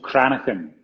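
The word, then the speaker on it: cranachan: well yeah that's a good question it's called chronic pain chronic pain chronic and yes it's a it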